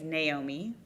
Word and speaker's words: Naomi: Um, my my first name is Naomi, like nay like a horse.